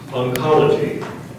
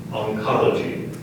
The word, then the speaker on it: oncology: vassel v a s s a l vassel oncology oncology can you please repeat it oncology can you please give me the definition the